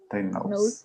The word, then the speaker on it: diagnose: So have in mind that here pronounced diagnosis, and here diagnose with a z sound. Diagnosis. Diagnose.